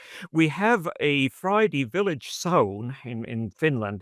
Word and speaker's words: sauna: We have a Friday village sauna in Finland. It's the sauna, or I called it English a sauna, but that's mispronounced. The sauna in Finland, the sauna here.